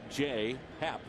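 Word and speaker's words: J. A. Happ: career against the Cardinals first name is spelled j-a but pronounced J Happ you see his numbers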